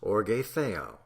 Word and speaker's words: orge theou: In the original Greek of the New Testament occurs in several places the phrase orge theou, pronounced orge theou, which most of the translators render the wrath of God.